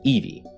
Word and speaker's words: iwi: If there are any other letters, it's the V sound. So this city is pronounced Eva, and the word for bones is Evi.